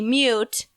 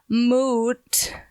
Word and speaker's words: moot: that point would be mute whatever guys that point would be moot hasn't spelled the same way no it's mo ot you know what but